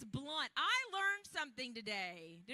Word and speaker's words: Blount: more candy the teacher it's pronounced blunt even though it's spelled Blount that was really mean